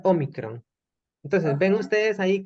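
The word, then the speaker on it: ómicron: Ok, parece la O y se pronuncia Omicron.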